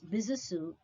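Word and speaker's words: Besançon: b-e-s-a-n-c-o-n is pronounced as bisasu as it is a french word he was a french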